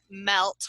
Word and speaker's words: Mellt: And then there's the Russian Molnija, and then the Welsh Melt, which is spelled Mellt.